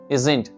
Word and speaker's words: isn't: तो यहाँ पर आपको किस तरह से जेड की साउंड निकालना, इजंट।